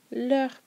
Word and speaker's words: leurs: Parents, leurs parents. We don't pronounce the S, so it sounds exactly the same as the masculine and the feminine forms.